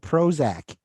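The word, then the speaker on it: Prozzak: this movie wow okay it's spelled p r o z z a k with the little emblem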